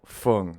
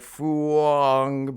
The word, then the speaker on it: Phung: Because I know if you try to pronounce it, you might try to pronounce it phonetically and be like Phuong, but I grew up with a lot of Vietnamese people, so some things I kind of like. I think that's how to pronounce it the right way.